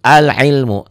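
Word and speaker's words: العلم: sukunnya kadang ada sukunnya maka alif lam ini dibaca begitupun ini Al Ilmu dibaca Karena setelah alif lam bertemu huruf itu Ain Al Ilmu ya ini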